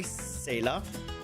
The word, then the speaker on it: Saileach: I forgot if it's an I or no I. Saileach. Because the I is silent, I think. Maybe.